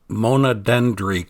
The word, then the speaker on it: Mondèndri: hard to get to, and for the correct pronunciation, here is the name of the beach directly from a Greek. Mondèndri. Mondèndri kind of translates into a single tree.